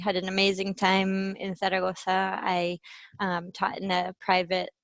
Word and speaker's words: Zaragoza: So I lived, studied, and taught in Zaragoza, or if you want to pronounce it the Spanish way, Zaragoza and Salamanca, each for one semester.